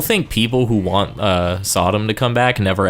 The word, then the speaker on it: Sodom: to pronounce his name I think it's so Dom but I'd always thought I'm also but apparently it's Sodom like technically it's katana